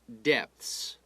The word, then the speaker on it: depth: starts out at great depths okay when we talk about uh how deep the sea is we talk about the depth and that word you pronounce the p dep depth all right so at